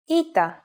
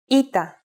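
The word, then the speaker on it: ήτα: letter is a vowel ITA which makes an e sound like I said before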